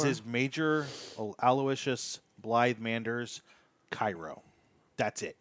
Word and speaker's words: Aloysius: Major Aloysius. Aloysius. Aloysius, thank you. and his last name is hyphenated. It's Blythe Manders. It's Sius, not C.